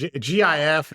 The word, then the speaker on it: GIF: interface format right okay so it should be a hard g g j okay so it's a GF okay all right it's a big debate it's a big debate but I am of the hard G persuasion so so people are